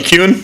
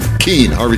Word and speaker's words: Kuenn: Harvey Kuhn? Kane. Harvey Keene. I can't remember, yeah. It's spelled Kuenn, but Harvey Keene.